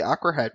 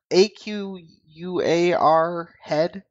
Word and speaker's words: Aquahead: I'm giving my shout out to CCP Aquahead because we have another dev posting on the forums. How do you say his name? I said Aquahead. It's like AQUAR head.